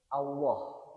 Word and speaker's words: Allah: qul huwallah lah ini ada lafzul jalalah yakni lafaz Allah. Jadi ketika membaca lafaz Allah ee apalagi Allahnya ini dibaca tatkhin dibaca tebal. Ketika membaca lafzul jalalah tafkhim atau tebal diusahakan membacanya dengan agak diberatkan.